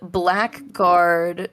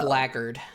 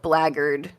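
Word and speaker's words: blackguard: Kenichiro defeat of the old black guard 20 years ago. It's pronounced Blagard. Oh, Blaggard 20 years ago.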